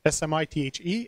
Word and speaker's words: Smythe: I had an Australian student 2 terms ago, and his name was written Smythe, but he pronounced it Smith.